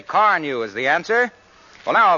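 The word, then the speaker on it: Carnu: You see, Car New does not one, but two jobs at once.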